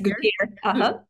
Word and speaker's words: Gutiérrez: Do you pronounce it Gutier? Yes, Gutier. Gutier. Uh-huh.